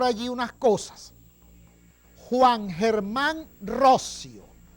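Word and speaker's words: Roscio: El 210 aniversario en el que dos insignes venezolanos, Juan Germán Rossio, no se dice Rocío, como he escuchado yo por allí unas cosas, Juan Germán Rossio y Francisco Isnardi redactaron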